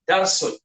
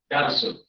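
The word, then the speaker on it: دَرْسٌ: Darsun. Okey, bila tak ada alif lam, dibacanya dengan tanwin. Darsun. Sin bagi depan dua lah.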